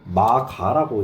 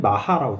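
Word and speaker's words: 摩訶: 이거를 마가라고 읽게 되긴 하지만 실제로는 마하라고 됩니다. 이게 한자가 특이한 게 불교의 한자를 배우다 보면은 불교에서는 분명 이렇게 있는데 왜 이걸 음을 따로 떼어보면 다르게 읽혀지지?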